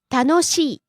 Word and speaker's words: 楽しい: first we have 楽しい enjoyable, 楽しい楽しい rising on the second syllable no and falling on the last syllable e.